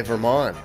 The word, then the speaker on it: Vermont: Vermont, or should I say Vermont, because that's how they say it here.